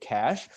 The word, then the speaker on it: cache: uh in our architecture we code it cach c a e and uh the uh the pronunciation is very similar to well it's the same as cash so that's why I